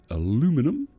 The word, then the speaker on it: aluminum: We can have an aluminum or aluminium depending on how you pronounced it.